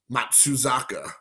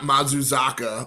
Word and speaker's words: Matsuzaka: Matsuzaka. Not Mazuzaka or Fukudome instead of Fukudomi.